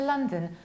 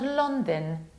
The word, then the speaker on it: London: This county with the capital of London, it's Greater London, but attention, not London, not London. La, la, la, la, la, la, land, London.